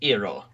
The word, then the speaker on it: Iroh: Yeah, well, Sokka's name is pronounced Sokka, and Uncle Iroh is pronounced Iroh.